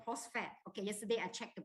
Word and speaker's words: phosphate: lifeline this is called tri calcium post fat okay the the pronunciation is called phosphate okay yesterday i checked